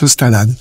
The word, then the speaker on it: L'Ostalada: est née cette association l'ostalada d'ailleurs je ne suis pas certaine d'avoir bien prononcer donc n'hésitez pas à me corriger alors ça s'écrit effectivement l'ostalada mais ça se prononce l'ostalade c'est c'est de l'occitan